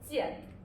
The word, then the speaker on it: 见: So this is pronounced as 剑.